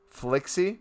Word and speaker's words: Flixie: By the way, if you don't know how to say my name, it's Flixie. Am I saying it correct?